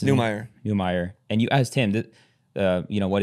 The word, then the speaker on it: Neumeier: How do you pronounce it? Neumeier.